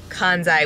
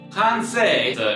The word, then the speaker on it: Kansei: Oh, I've been saying it wrong this whole time. Kansei is actually a Japanese word, and it means thoughtfully and designed with emotion.